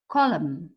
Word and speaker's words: column: Now words that has a silent N. Yeah, you write the N, but you don't say it. Autumn, him, column.